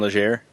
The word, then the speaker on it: Legere: Where how do you pronounce his last name? John Legere.